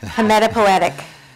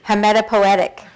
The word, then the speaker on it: hematopoietic: I used to try to pronounce this first word. Hematopoietic. Say it again. Hematopoietic.